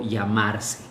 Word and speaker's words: llamar: Eh, en algunas regiones la doble L se se pronuncia como una i, llamar, en otras como es parecido a Uyota du portugués, ¿no?